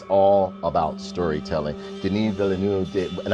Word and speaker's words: Denis Villeneuve: denis villeneuve did and i'm trying to say it in the french way because or like the way it should be pronounced because everybody keeps calling them dennis villanueva or whatever it's denis valeneu like that's the way i see it pronounced because my family speaks